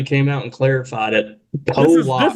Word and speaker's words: Pollock: Pollock is how his name is pronounced.